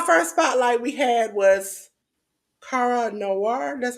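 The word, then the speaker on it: Kara Noir: week okay our first Spotlight we had was Cara Noir that's how you pronounce it Jes that's right that was on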